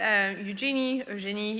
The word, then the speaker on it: Eugénie: So again, my name is Eugénie, if you can make it with the French pronunciation.